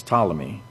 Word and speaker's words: Ptolemy: You don't pronounce the P, okay? It's Ptolemy. Ptolemy the the Alexandrian astronomer